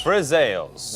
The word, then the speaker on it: friselle: And one more time so we can all get the pronunciation correctly. Today we are making Friselles. Friselles.